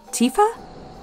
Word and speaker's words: Tifa: No Tiffa here? Yeah. Do you mean Tifa?